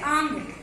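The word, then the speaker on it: आङ्: क्यों देना है, क्योंकि ये उपसर्ग है आंग। वो आंग का अंगा, लास्ट में जो अंगा हलंत रहता है ये गायब हो जाता है या साइलेंट होता है, लुप्त हो जाता है जब इसका प्रयोग बनाते हैं।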